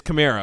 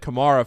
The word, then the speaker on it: Kamara: thing with Alvin Kamar it's either Kamara is right and and it wasn't Chimera or it's Chimera the Kamara khmera thing it's Camaro okay so then everybody that said Kamara forever was wrong yeah but